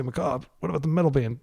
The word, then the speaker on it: macabre: By the way, I'm using the French pronunciation. I don't want you to think I'm an idiot or something like that. It is pronounced Macabre. Macabre in French. Pardon my mediocre French. I just want to acknowledge that I know everybody in the United States says Macabre because it's like this